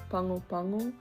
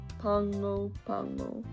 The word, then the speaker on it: Pago Pago: It's right there in the back of your throat. It's like you're saying ping pong, or like the capital of American Samoa is Pango Pango. So ping pong, Pango Pango.